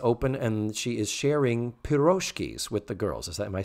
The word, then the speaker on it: pirozhki: The stress in pirozhki is properly placed on the last syllable.